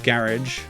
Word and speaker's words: garage: You'll find his garage. I'm pronouncing it in the British way cuz it's a British game, by the way.